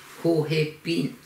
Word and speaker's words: Joséphine: Et dans la langue Innu, on le prononce Hohepin. Comme les gens qui ont mon âge, on n'avait jamais entendu parler le français. Alors le J, il n'existe pas dans ma langue. Donc ça devient un SH.